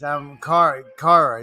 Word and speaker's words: Kyra: Kyra, is that Kira, yeah, Kira? Kira. Excuse me, Kira. My God. No, it's spelled Kyra, but it's Yeah, all good. it's Kira.